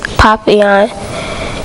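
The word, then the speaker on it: papillon: like our neighbor stopped you say it like this popping on in French it means butterfly I help mrs.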